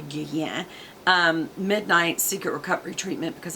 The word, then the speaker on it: Guerlain: Guerlain, some people pronounce it Guerlain, it's actually Guerlain.